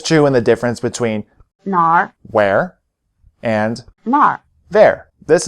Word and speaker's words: 哪儿: 这个，这个，这个， It may be helpful to remember that the answers 这个 this, 这儿 here, 那个 that, and 那儿 there are all in the falling tone, while the questions 哪个 which and 哪儿 where are both in the low tone.